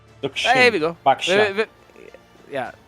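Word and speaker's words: Zhuxin: Nah, the X is pronounced as Sh. Zuxin.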